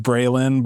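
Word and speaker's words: Braeghlyne: White women that name their children like Brilin, but it's spelled like B r a e g h l y n e.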